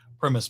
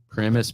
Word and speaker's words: Primis: with premise Bank mortgage is it premise Bank mortgage or premise mortgage premise mortgage okay gotcha premise mortgage and it's spelled p-r-i-m-i-s got it fun fact